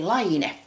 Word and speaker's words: Laine: Okay, this is a Finn-made magazine, and if you want to brag about knowing how to pronounce this name correct, repeat after me. Laine. So this is Line magazine.